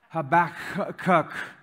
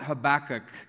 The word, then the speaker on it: Habakkuk: ball, she says the name of this book, Habakkuk. Some people call it Habakkuk. Some people call it Habakkuk. Some people call it Habakkuk. Some people call it Habakkuk. I call it Habakkuk.